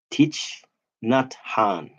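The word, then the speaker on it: Thich Nhat Hanh: friend so it's good like pronounce teach not Han there you go teach n nutan resonant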